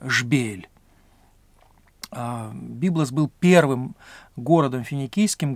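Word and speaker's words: جبيل: как мы говорим byblos или на современном арабском языке произносится как шпиль byblos был первым городом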